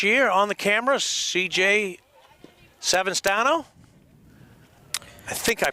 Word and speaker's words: Savastano: And we have a new intern this year on the camera, CJ Savastano. I think I pronounced that right. Yeah. Savastano.